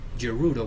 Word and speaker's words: Gerudo: want to call it I prefer Gerudo with a soft G but yeah whatever um